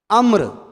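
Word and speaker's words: عمرو: आइन मीम रा वाऊ अम्र। बाज़ लोग जो उर्दू खाली पढ़ते हुए उसको उमरू पता नहीं क्या पढ़ लेते हैं, उमरू नहीं है, ये अम्र है। वाव साइलेंट है, वाव की आवाज़ नहीं आएगी।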